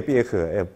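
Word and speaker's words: Pierre: 삐에흐. 프랑스 친구였어요. 내가 맨날 삐에르 했더니 삐에흐래. 삐에흐. 발음을 똑바로 하래요.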